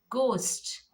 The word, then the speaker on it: ghost: Ghost, ghost, G O st, ghost. Now H becomes silent here.